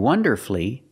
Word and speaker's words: wonderfully: But with words like these, masterfully, beautifully, and wonderfully, you have two syllables before F-U-L-L-Y, but the stress is on the first syllable. In this case, the U is silent.